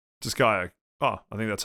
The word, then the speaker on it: Disgaea: seth um so sir how did you pronounce it uh i pronounced it disgaea disgaea ah i think that's